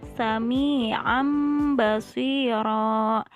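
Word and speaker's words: سَمِيعًا بَصِيرًا: Contohnya di sini lafaz sami'an basira, sami'an basira. Jadi membacanya seperti kita bilang huruf mim.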